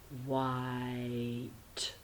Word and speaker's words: white: So silent E at the end there, white. Remember, silent E is the only way that you can make I long with 2 vowels.